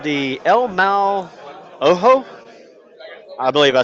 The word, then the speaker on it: El Mal Ojo: So, for our first scenario, it's called the El Mal Ojo. I believe I said that correctly. David, how do we pronounce the scenario?